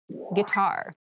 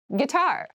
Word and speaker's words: guitar: casual clothing casual clothing guitar guitar guar this word has kind of an interesting spelling it starts with G UI but we pronounce this as G so a guitar is